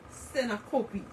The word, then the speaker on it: syncope: Many people, including doctors, assume that blackouts are due to epileptic seizures, but much more commonly, they are due to syncope, pronounced syncope, a type of blackout which is caused by a problem in the regulation of blood pressure or sometimes with the heart.